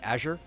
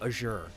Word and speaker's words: azure: Like, Whether you are American and you say Azure, or if you are British and you say Azure because of the French influence on you, you still know what the person means.